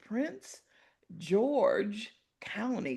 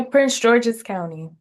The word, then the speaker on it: Prince George's County: Constance was raised in Prince George County. Did I say it right? Yeah, Prince George's County.